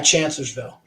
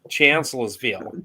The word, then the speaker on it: Chancellorsville: Union case shot projectile I dug at what is now a house on private property over by Chancellorsville.